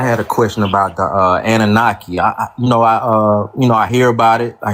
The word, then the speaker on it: Anunnaki: So they pronounced it Anunnaki, right?